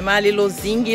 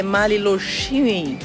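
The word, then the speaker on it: Mali Lošinj: Não é Malilozing, não é Malilozine, é Maliloxine. Loxine. Quando tem aquele acento aqui no S, som de X, e o J tem som de I. Então, Maliloxine.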